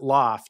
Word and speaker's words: L0pht: sorry I don't know how you say LZ PHT yeah we spell it that way because that's hacker LEP like you know hackers were the first ones with online culture right so we we pronounce it Loft yeah sure online culture